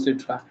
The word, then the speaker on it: UNCITRAL: So you were trying to pronounce the name. That's why you said the UNCRAS. That is called UNCITRAL.